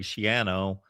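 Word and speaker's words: Schiano: Flack, Matt Rule, Greg Shiano. Um, and that was clarified at one point in the season. I was watching a Ruters football game that that it needs to be pronounced. That rhymes with piano.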